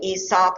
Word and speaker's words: Aesop: um supposedly a person named aesop and you could say esop i don't go crazy on that pronunciation but aesop has collected them and